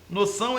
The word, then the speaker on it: noção: aí é o nome noção noção é oxitono a sílaba tônica é o s Senão nós pronunciar no e não noção Ok então falso o